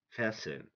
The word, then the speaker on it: fasten: pasen often or often the T is silent when it goes before e n rule number 12 this